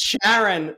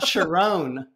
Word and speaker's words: Sheron: the whole time but it's sharon not sharone after well see it